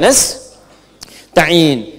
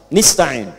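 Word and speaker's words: نستعين: Iyaka na'budu wa iyaka nastain. Ada yang baca pakai kasrah. Nistain ya. Nistain ini bacaannya dari Bani Asad, Rabiah, dan Bani Tamim. Tapi kita baca harus menggunakan fathah kalau untuk kita ya.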